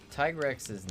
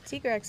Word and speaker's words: Tigrex: in the entire franchise i always said tiger x because he's striped like a tiger but tigrex is grown on me there are valid arguments for both sides very valid yeah because t-rex is like t-rex yes t-rex but the grecks the grunk comes from his tiger stripes but you could also